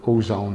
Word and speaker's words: Ozon: Something funny about many Russian companies, actually their name is in English, although here Ozone is spelled O-Z-O-N.